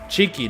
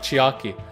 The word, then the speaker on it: Cheeky: mikken for your hiko cheeky not chiaki oh right yes cheeky it's spelt with an e c h e e k y you know like cheek cheeky right but um first